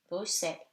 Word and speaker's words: Bruxelles: X in the following words is read like S, as I have already told you. 6, 10, 60, Bruxelles.